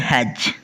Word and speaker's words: hedge: आगे है HEDGE हेज, हेज पना है हेड्ज नहीं।